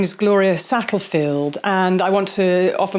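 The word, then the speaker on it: Satterfield: make mention of that her name is Gloria sattlefield and I want to offer my sincere apologies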